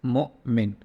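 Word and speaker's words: مؤمن: say something like this it's Mo I mean it's MO just a slight pause and then mean right so uh in English probably you can put a hyphen here or a dash to specify that but it's Mo mint and this is repeated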